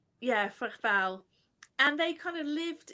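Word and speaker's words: Fréteval: One of them famously, de Fretal, I don't know if I've actually pronounced that correctly. Freteval, Freteval.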